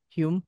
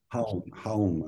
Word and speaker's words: Hulme: And I'm really I read this book by Keri Hulme, or how do you pronounce that? Hume? Home, I think. Home.